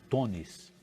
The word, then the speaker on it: Teunis: Esse EU do Teunis, em holandês, eles pronunciam com O, falam Tonis.